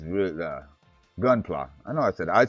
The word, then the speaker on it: Gunpla: Okay, it is Gunpla.